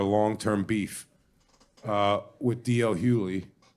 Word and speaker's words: Hughley: I say Hughley.